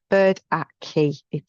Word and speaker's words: Burdickey: So it's Bird at Key.